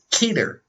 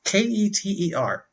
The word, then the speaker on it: Keter: okay um and there's keter i don't know if that's how you say that it's k-e-t-e-r i think it's keter i read somewhere that it's pronounced like sweater but i think that's stupid